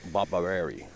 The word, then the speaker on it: Barbareri: Barbareri. Did I pronounced it wrong, right? No, you pronounced it just perfect.